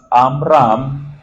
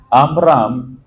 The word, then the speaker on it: Amram: en hebreo eh eh dividimos en dos sílabas amram amram am es pueblo y la raíz de